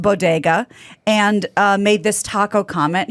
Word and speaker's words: bodega: biden's attempted a compliment stumble a little she mispronounced bodega and made this taco comment here's the clip diversity of this community as distinct as the bogotas of the bronx as beautiful as the blossoms